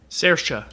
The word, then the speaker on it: Saoirse: I thought you were saying Sarah Saron, but it's her name is Saoirse.